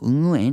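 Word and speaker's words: Nguyen: 좀 발음이 어렵긴 한데 뭐 응우엔 이렇게 발음해도 될 거 같아요.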